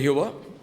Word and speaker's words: Jehová: Los teólogos le han añadido algunas letras y en diferentes tiempos le han dado cierta pronunciación, como Yahvé o Yahweh o Yab, Hab o Jehová.